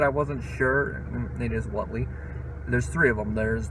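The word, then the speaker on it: Whateley: had to look up how that name is pronounced. I thought it was Whatley, but I wasn't sure. It is Whatley.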